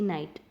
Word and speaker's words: knight: For example, night, NIGHT, night. And the other example is KNIGHT. We say it as a silent letter. So both are sounded as night, but they have a different meaning.